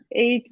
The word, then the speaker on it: Eid: Oh, so it's Eid weekend or Eid weekend. I'm not sure how to pronounce it, correct? Yeah, it's eight weekend.